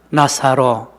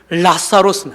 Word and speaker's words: 나사로: 숨어 있는데요 한번 따라합시다 나사로 정확하게 발하면 라사로 라라 예 왜냐면 헬라 원문에 엘 영어로 엘로 예 라사로 예 라무다 그런데요이 두운 법칙에 의해서 라로 발음 적지 못하고 나로 적었습니다 라사로 그요 헬라 그데